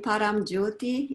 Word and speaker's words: Paramjyoti: I will let you pronounce it so it's correctly pronounced. Yes, I received the name Paramjyoti in India from my, I call it heart family.